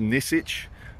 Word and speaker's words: Nisic: name tag, and it's N-I-S-I-C is his surname, which I believe is pronounced Nizic.